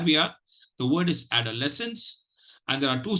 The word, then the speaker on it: adolescence: the pronunciation goes like this add our lessons adolescence adolescence adolescence let me share screen with you the the word for today so that we are the word is adolescence and there are two stress syllables there is a the price the secondary